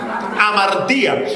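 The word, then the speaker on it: ἁμαρτία: Porque cuando vamos al original del griego, que es el Nuevo Testamento, la palabra pecado se escribe como amartía, con tilde en la i. ¿Cómo es la palabra? Amartía.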